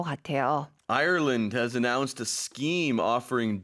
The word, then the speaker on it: Ireland: for Koreans to pronounce, especially because if you read it in Korean, there's no R sound. To me, a lot of times it sounds like people are saying island. Oh, so it's Ireland.